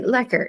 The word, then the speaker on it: Loecker: It's okay, Lecker. It's okay. The O is silent and everybody gets it messed Now up. So, everybody knows. I just want to make sure I keep doing that. So yeah, that's silent O.